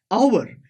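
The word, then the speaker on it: hour: अब दोस्तों यहां पे एच है, पर दोस्तों इसकी साउंड कैसी है, आवर, पहले ए आता है आवर, तो इसीलिए यहां पे एच एक तरह से हमारा साइलेंट की तरह काम करता है, तो इसलिए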